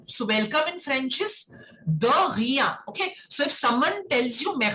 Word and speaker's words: de rien: So, the pronunciation is air. Okay. From your throat, like how we did for bonjour and merci beaucoup. Okay. Similarly, you will say de rien.